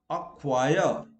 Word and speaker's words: acquire: Also, when C follows a Q, now let us see, acquire. So C is silent.